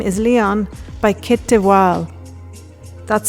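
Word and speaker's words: de Waal: The book she mentioned is My name is Leon by Kit Deval. That's spelled Ki T D E W A L.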